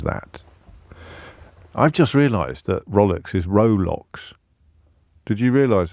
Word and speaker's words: Rolex: It's pronounced Rolex. It's one of those sort of pronunciation glitches that are so popular in the English language.